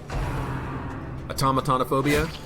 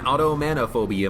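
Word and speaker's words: automatonophobia: Automatanophobia? That's an easier way of pronouncing it. Thank you, Verity. That makes a lot more sense than automanophobia, manophobe.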